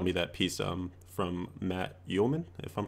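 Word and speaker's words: Uelmen: I remember you showed me that piece from Matt Uelman, if I'm pronouncing his last name correctly. Yeah, Uelman.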